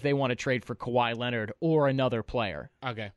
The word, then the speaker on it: Kawhi: Kawhi is the way you pronounce it, right? Yeah, Kawhi's the deal.